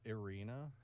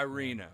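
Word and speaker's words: Iryna: I do believe it's Arena. I R Y N A. Arena. Okay, because I I see it and that Y throws me off, but we'll call her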